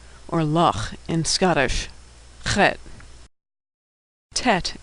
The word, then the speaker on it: Tet: luck in Scottish Tet Tet is pronounced T as in tango Tet good is pronounced